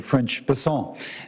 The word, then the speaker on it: Bessent: Bessent, I'm always going to pronounce your name as if it was in South Louisiana, and I'm going to pronounce it with a French Bessent as opposed to Bessent. That's what those folks in South Carolina do.